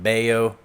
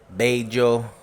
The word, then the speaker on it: Bello: new place here in Bayo Bay Joe that's how they say it in Colombia messy kitchen from last